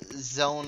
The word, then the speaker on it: sZone: szone online stalker online Zone online I I think Zone online is the proper way to pronounce it the S is supposed to be silent or something like that and it's a fun